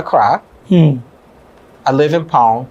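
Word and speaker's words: Kpone: hmm I live in pound k-p-o-n-e not the boom yeah boom that's how we pronounce it I know okay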